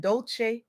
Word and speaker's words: Dolce: I'm your host Dolce, pronounced "dolce" like sweet softness whispered in French.